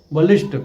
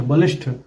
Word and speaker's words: बलिष्ठ: की जरूरत नहीं है कुछ शब्दों के अंत में ट और ठ के उच्चारण में भी अक्सर गलतियां मिलती हैं कनिष्ठ वरिष्ठ बलिष्ठ कुष्ठ आदि शब्द गलत है इन शब्दों में ट की जगह ठ का प्रयोग करना चाहिए कनिष्ठ वरिष्ठ बलिष्ठ सही शब्द